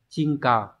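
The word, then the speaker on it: 沈下: Bởi vì chữ hạ nó sẽ có cái đọc là cao là ghê đúng nhỉ? Trong trường này đọc là cờ nhá. Và chữ trầm sẽ là chin, như vậy chúng ta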